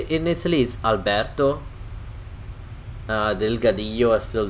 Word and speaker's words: Alberto: odd let me pronounce it the correct way because I've been pronounces this name in the time in the American Way Alberto but how we would say in Italy is Alberto they look at the USL diggidy Orton that's